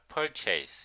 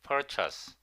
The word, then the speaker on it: purchase: chatter was a nuisance I used to pronounce this word purchase now I am aware that my pronunciation was wrong purchase purchase it is not purchase it is purchase the car was an